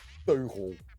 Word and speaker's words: teugel: That's a Dutch word. Teugel. You say it like that.